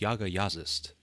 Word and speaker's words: Jaga Jazzist: hard to compete with Yaga yist and yes that is apparently how to pronounce their name being as they're from Norway over the band's nearly